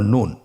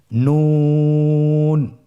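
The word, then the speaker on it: نون: আপনারা আমার সাথে বলুন নুন। আরেকবার চেষ্টা করুন। নুন নূর হরফটির উচ্চারণ স্থান হচ্ছে জিহ্বার আগা তার বরাবর উপরে তালুর সঙ্গে লাগিয়ে উচ্চারিত হয়।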